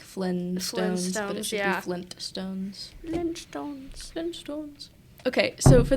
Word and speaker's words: Flintstones: is um The Flintstones everybody does not pronounce the T but there is a t because you know it's like the Flint Rock yeah so that's so we say like Flintstones yeah Stones okay so